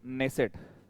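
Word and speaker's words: Knesset: जो संसद है वो नेसेट, नेसेट में के साइलेंट रहेगा, इस तरह से नेसेट, ध्यान रखना यहाँ पर के साइलेंट रहेगा भाई बोलते समय, नेसेट, मतलब ये इंपॉर्टेंट है ये सब।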